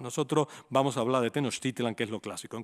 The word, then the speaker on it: Tenochtitlan: Y ahora llega la entrada en Tenochtitlan. Aquí la diferencia... En náhuatl debe decirse Tenochtitlan, pero la castellanización ha hecho que nosotros hablemos siempre de Tenochtitlán y que le pongamos un acento en la A.